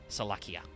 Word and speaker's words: Salakia: during your uh oh it is definitely the hard the hard C because even in Japanese it's so it's salakia which is similar by the way very similar to the uh uh Latin name for sharks that's salakia with a CH sound anyway two effects once